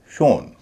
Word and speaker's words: shown: इसी तरह SHOWN, शोन, क्योंकि मूल शब्द SHOW है जिसका उच्चारण होता है शो।